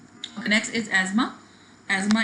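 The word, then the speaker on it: asthma: एजमा इसको pronounce करते हैं, अस्थमा नहीं प्रोनाउंस करते, टी इज साइलेंट हेयर।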